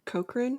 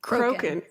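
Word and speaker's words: Crochan: as we heard the cokan I mispronounce that every single time croen good grief croen witch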